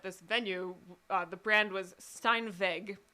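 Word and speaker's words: Steinweg: venue the brand was Stein vague that's how you would pronounce it in German so it's spelled esti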